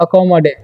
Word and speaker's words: accommodate: तो इसे पढ़ते हैं हम लोग अकोमोडे, अकोमोडे, ठीक है। यहाँ पर भी टी का उच्चारण नहीं करेंगे, अकोमोडे पढ़ेंगे, ठीक है।